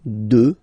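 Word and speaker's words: deux: 2, final X not pronounced, okay? 2.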